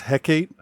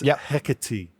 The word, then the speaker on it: Hecate: way to say it I always thought it was Hecate but it's hecky or something like that now what what what did